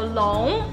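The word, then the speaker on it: 龙: it in in Chinese so long is the pronunciation of dragon in China Chinese long is a dragon and as you may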